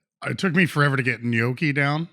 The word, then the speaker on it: gnocchi: Just don't say gnocchi. Don't say that. Yeah. Well, that's the hard part, is getting that G and N together. Exactly. Gnocchi.